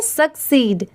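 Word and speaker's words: succeed: मैंने आपको बताया था कि अगर कहीं पर एस U double C E double S रहा तो वहां पर उसे सक्सेस पढ़ेंगे। बस यहां पर क्या चेंज हुआ है? देखिए ध्यान से। एस U double C E double S की जगह पर क्या लगा दिया गया है? ई डी। इसलिए इसे हम यहां पर क्या प्रोनाउंस करेंगे? सक्सीड।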